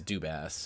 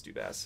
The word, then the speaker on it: Dubas: because I don't listen I heard it said on TV as dubass I'm pretty sure it's dubass yeah um which is